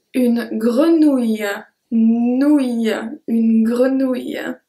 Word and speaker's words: grenouille: Try really to focus on the length of the word when I pronounce it. Bouteille. Bouteille. Numéro 5, une grenouille.